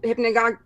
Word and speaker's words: hypnagogic: hypnagogic or hypnopompic hallucinations and so hypnagogic hypnagogic there we are with the words that I read many times and put in my head before I actually learned how to pronounce that but even ago chick